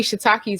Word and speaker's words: shiitake: personal question, and I was interested in shiitake.